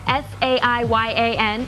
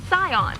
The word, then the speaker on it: Saiyan: When you Romanize Japanese, something spelled S-A-I-Y-A-N is pronounced Scion.